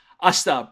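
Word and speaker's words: あした: ta, the T there, we just usually don't pronounce that I, the E sound, the I, the E, the I. You know how that works out. Ashta.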